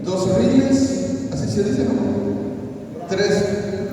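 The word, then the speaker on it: reel: en la mañana yo abrí y vi un ril de un predicador me llamó la atención le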